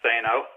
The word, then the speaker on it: Thanou: we want to talk about today, the Jason Thanou Time Travel novels. Steve, did I say Jason's last name right, and did I leave anything out of that huge list? Yeah, his name is pronounced Thanou, his last name, and I think you covered